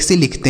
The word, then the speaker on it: sell: ई से बनता है ए की मात्रा और डबल एल है, तो कोई भी अक्षर अगर दो बार आता है तो एक को हम साइलेंट करते हैं, एक से लिखते हैं।